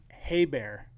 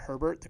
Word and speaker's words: Herbert: fun one i've heard some people saying uh justin hey bear instead of herbert so uh lewis roberts